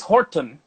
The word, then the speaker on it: Horton: Um, The the OG grape of Virginia is called Norton, hmm and it was Dennis Horton, who's like rhymes with the grape, like started like actually creating more of this, making more wine of Norton and everything.